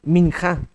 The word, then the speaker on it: minja: hablando del holocausto habla de las ofrendas ofrenda minja minja m i n J a minja son